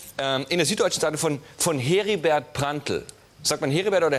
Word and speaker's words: Heribert: Aber eigentlich muss es heißen Heribert. Dann sagt, gib mal her. Ein R hat ja dieselbe Wirkung wie Doppel-E. Es verlängert die Aussprache des Es. Heribert.